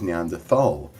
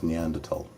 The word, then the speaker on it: Neanderthal: always heard it was Neanderthal it is a preference a preference there is no H sound when it's pronounced in French and German it's something I picked